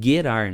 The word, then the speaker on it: Gerar: A pronúncia no hebraico ela é Gerar, né? Porque o G no hebraico ele tem o som de G, né?